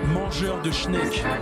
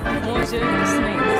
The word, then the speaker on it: mangeur de schneck: I gotta teach you how to say it in French. You say, mangeur de schneck. Mangeur de schneck.